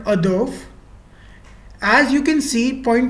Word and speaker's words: hors d'oeuvre: used are in French the appetizer is called Ador as you can see point to be noted